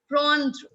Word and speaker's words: prendre: It's prendre. En sound in French is prendre.